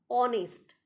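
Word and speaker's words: honest: অনেস্ট এইচ থাকলেও উচ্চারণ অনেস্ট।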